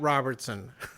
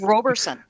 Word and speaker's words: Roberson: Pat Robertson. It's Roberson. Oh, okay. I thought you said Robertson.